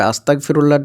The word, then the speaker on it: আস্তাগফিরুল্লাহ: তবে আস্তাগফিরুল্লাহর যে উচ্চারণ সেটা নিয়ে আবার অনেকেই কনফিউশনে থাকেন। আমি বাংলায় ভালো করে বলে দিচ্ছি। আ দন্তাস সয়ত আকার গ) ফয় হস রয় হসু লয় লয় হ। এটা আপনি খাতায় লিখুন। লেখার পরে দেখুন যে এটার উচ্চারণটা কি আসছে। যে উচ্চারণটা আসছে সেটাই আপনারা বলবেন। উচ্চারণটা হবে আস্তাগফিরুল্লাহ।